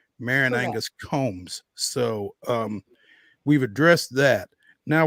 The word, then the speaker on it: Coombs: Fan Nation's MAREN Angus COOMBS. Ignore that second O. That's exactly right. There's only, you see two O's in her last name, but you only pronounce one of them, MAREN Angus COOMBS.